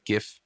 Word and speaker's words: GIF: I recently relearned what GIF, or how people actually pronounce it, GIF, that's the right way, stands for.